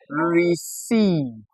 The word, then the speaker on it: receive: We have that sound in the letters ei. Letters ei. All right. Now we find this in words like receive ei.